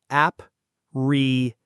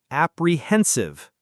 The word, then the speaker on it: apprehensive: This one is apprehensive. Notice the stress on the third syllable. The H is silent, so it sounds like apprehensive. Try it. Apprehensive.